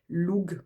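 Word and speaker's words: Lugh: Et puis ici, on a les 2 lances de Louf, je ne sais pas comment vous le prononcez. Loug, moi je le prononce Loug, donc le dieu de la lumière.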